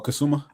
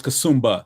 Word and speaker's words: Kasumba: From um Wait, how do you pronounce her name? James Florence Kasumba, I believe. Okay. Or Kassuma. Florence Kasumba, excuse me.